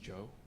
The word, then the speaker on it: Zhao: My last name is actually pronounced Joe, but it's Chinese.